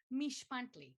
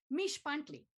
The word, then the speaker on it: Mixpantli: but stay with me mish buntley the x is pronounced sh as in sh be quiet you're in a museum repeat after me mish